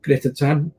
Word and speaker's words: Grythyttan: Grythyttan. It's pretty much the way I pronounce it, mate.